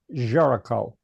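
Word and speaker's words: Géricault: Well, this is The Raft of the Medusa by Jerome Jericho. It doesn't look like that if you see it spelled, but it's pronounced Jericho.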